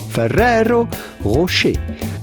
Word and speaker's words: Ferrero Rocher: Excuse my pronunciation, I was trying my best to pronounce the chocolate in its native language. Ferrero Rocher.